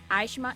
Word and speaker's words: Eichmann: Vale lembrar também que esse filme deu origem ao livro Eichmann em Jerusalém.